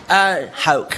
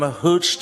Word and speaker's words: Hauch: Again, the pronunciation of the name is Hauch. So Hauch. It's a German name, so that's why. So, I'm used to everything from Hooch to Hauch and all these things, but Hauch is the way.